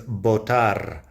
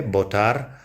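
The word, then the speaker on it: votar: verb to vote is botar notice that the V generally sounds like a B in Spanish I think that's a bit Regional but around here it's pretty common to pronounce it that way botar and botar incidentally is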